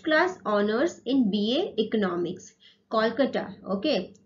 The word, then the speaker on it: Kolkata: Kolkata, okay. Previously, it is called Calcutta, and now the pronunciation is Kolkata.